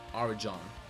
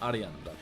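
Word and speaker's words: Arijan: name, they call me Arjan. If you ask an Indian person to pronounce my name, they call it they say Arajan, which sounds horrible. My name is Arian. That's pronounced Arian.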